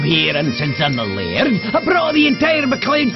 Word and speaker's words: laird: think macleod i'm the laird of this castle i'm lucky luke uh what's a laird oh that's how we scoresman pronounce the word lord we don't want to